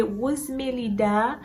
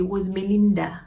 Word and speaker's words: Rosmelida: Quelqu'un qui toujours pas qu'à prononcer nom c'est Rosmelida. Rosmelida. Des fois quelqu'un qui dit Rosmelinda. Non, m'bagay Rosmelida c'est Rosmelinda m'gen Rosmelida. C'est comme ça non prononcer pas prononcer Rosmelinda.